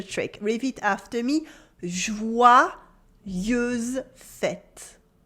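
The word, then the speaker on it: joyeuses fêtes: feminine that's a trick read it after me jouer use fett jouer use fete good you might have noticed by now the pronunciation of the french y in jouer let's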